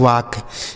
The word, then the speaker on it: walk: चलिए आगे देखिए, नेक्स्ट वर्ड क्या है दोस्तों, देखिएगा WALK, इसे पढ़ा जाता है वाक। WALK, इसे पढ़ा जाता है, W से हो जाता है वाह, ए का उच्चारण आ।